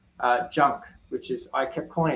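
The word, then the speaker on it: GUNC: uh and it's uh junk which is I kept calling it Gunk but it's pronounced junk uh and I guess that's because genome has a soft G so genome junk and I guess it's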